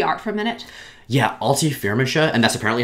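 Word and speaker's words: Alti Firmansyah: Yeah, Alti Firmisha, and that's apparently how you say her name.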